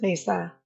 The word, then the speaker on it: Mesa: basically those areas and so it's just Mesa you know it's a simple pronunciation hey no worries if